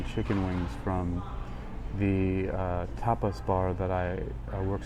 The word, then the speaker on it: tapas: wings from the uh tapas bar that I I work security at the front door. Tapas, that's t a p a s, not topless.